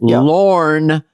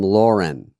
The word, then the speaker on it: Lorne: and in life, but the people that call him Lauren and they spell it Lauren, like the female name, is pretty interesting because